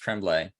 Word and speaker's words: Tremblay: And that book I finished was The Cabin at the End of the World by Paul, I think it's pronounced Tremblay, and he's fantastic.